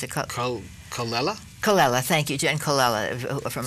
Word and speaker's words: Colella: I can't pronounce it. Colella? Colella, thank you, Jen Colella from Urban Cowboy, and he's got Sal Viviano, who's been in a lot of shows.